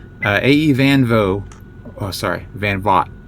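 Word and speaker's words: van Vogt: Uh I I said I always pronounced it VO with a silent GT.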